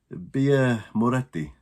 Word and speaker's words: Birra Moretti: How's that pronounced? Birra Moretti.